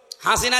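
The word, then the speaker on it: حسنة: লক্ষ লক্ষ মানুষকে দেখলাম কাবা শরীফে এই রুকনে আমিনি থেকে হজরে আসওয়াদ এটা পার হওয়ার সময় এই নামটা উচ্চারণ হচ্ছে, হাসিনা না হাসানা।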